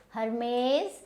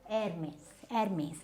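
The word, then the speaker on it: Hermès: Then we have, now this is not Hermes, this is Hermes.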